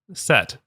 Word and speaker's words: Set: for a moment uh set is commonly spelled like the name Seth uh but it gets spelled Set uh also so it doesn't sound like you know like the stoner who works at a comic book shop right um there is